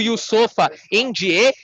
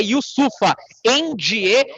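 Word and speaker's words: Yusupha Njie: ele confir firmou o yofa end Na verdade ele falou Inclusive a correção da sua pronúncia é yusufa end então fora dos microfones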